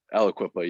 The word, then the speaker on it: Aliquippa: So Aliquippa, did I say it right? Aliquippa, yeah. Aliquippa. Everybody says it like that, so don't worry about it.